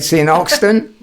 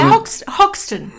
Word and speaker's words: Hoxton: No, it's in Oxton, which is a very, very similar setup.